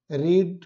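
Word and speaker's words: read: height का hidden हो जाएगा, HIDDEN, सी का सीन, एब्यूज का एब्यूज, रीड का रेड, रेड होता है लेकिन स्पेलिंग सेम रहती है, तीनों फॉर्म में पढ़ा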